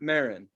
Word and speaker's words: Maron: name mcnaren marin nick just marin aaron mark maron mark maron mark maron always